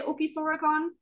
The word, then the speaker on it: Ookii Sora Con: r in it because if you're trying to pronounce it properly like they would in Japanese it's not fora it's you know their soda kind of like in between the situation um so trying